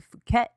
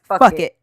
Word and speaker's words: Phuket: So Fergie takes off on vacation with John to Phuket. That's how you say it, right? Yeah. To Phuket and Saint-Tropez and shit. Meanwhile, someone at the The palace correct pronunciation is fuck it.